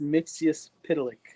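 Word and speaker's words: Mxyzptlk: It's pronounced Mixius Pitalik.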